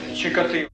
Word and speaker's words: Чикатило: По-украински произносится Чикатило.